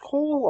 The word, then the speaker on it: Cohl: Everything there is interesting and really well told, and the one captain they have, I think it's pronounced Cole, although it's spelled in a Star Wars way, so Cohl.